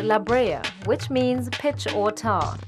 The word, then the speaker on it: La Brea: the island La Breeze a Spanish word pronounced La Brea which means pitch or